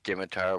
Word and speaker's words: scimitar: do me a favor pronounce Scimitar without the sea it's pronounced scimitar I have heard Muslim